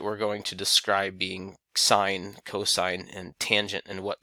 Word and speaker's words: sine: using these ratios the sine ratio is abbreviated with the word or with the letters si in which is pronounced sine not sin and so sine is